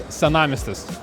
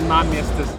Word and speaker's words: Senamiestis: Oh my gosh this is- Laidu Vedejas: In Lithuanian Lithuanian that's "Senamiestis". Sean: Say say it again Laidu Vedejas: "Senamiestis". Sean: Salamistis Sean: Salamiestis Laidu Vedejas: You say it like a salami.